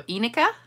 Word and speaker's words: Enika: The first syllable sounds like E as an eek. So Enika, it's Enika.